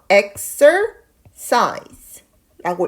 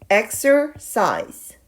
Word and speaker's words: exercise: 보겠습니다 운동하다라는 의미의 단어인데요 처음에 시작하는이 부분은 애 발음이 나도록 읽어줍니다 그래서 exer size라고 읽으시면 돼요 다시 한번 읽어 보도록 하겠습니다 exer size 조금만 더 빠르게 한번 더 읽어 볼까요 exercise 다음네 번째 단어는요 많이들